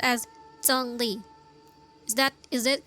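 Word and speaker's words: Zhongli: pronounce his name correctly it's like it sounds like but it's like J but not really J because it's Z it's because it has h it's always like J when you pronounce it in Chinese to my Chinese people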